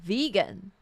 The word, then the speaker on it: vegan: it's n it's uh remember it's not vegan because I I will say Vegan if I didn't hear IV already say Vegan I probably will say Vegan so it's vegan vegan all right right and